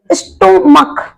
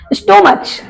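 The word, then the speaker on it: stomach: पलर बन जाता है जैसे कि स्टमक क्या पढ़ते इसको स्टमच स्टमच नहीं पढ़ते हैं उसको हम पढ़ते हैं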